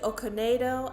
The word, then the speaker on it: Okonedo: For example, in Death on the Nile, when you had Sophie Okonedo, I think is how you pronounce her last name, as Salome, telling that